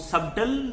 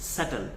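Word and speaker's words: subtle: हमारा है दिस अह आप इसको सबटल तो नहीं बोलते इफ यू से अ दिस लाइक दैट तो आप गलत बोल रहे हैं this is नॉट सबटल this is called सटल सटल का मतलब होता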